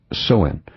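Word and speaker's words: Samhain: It's pronounced Soen.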